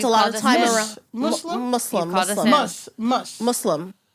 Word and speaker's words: Muslim: it's actually not because people say it like there's a zed like it's muu Z but it's mu s it's Muslim we Muslim Muslim so